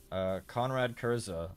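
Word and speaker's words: Konrad Curze: Conrad Kurza, or Conrad Kurz. I've heard it pronounced both ways.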